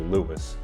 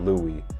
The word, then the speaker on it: Lewis: Hopefully, I'm pronouncing his name properly, Lewis, and it's not Louis, like Louis Tomlinson, our boy.